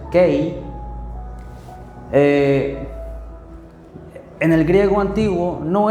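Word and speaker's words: καί: es en griego, y la palabra kei, que así se pronuncia, kei, en el griego antiguo no es para hacer una separación, sino una afirmación.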